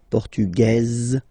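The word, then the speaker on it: portugaise: The Feminine form okay masculine portug you don't pronounce the S feminine form portuges you pronounce this Z sound okay and then remember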